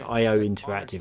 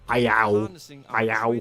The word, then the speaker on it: IO Interactive: It's IO Interactive. It's not IOW.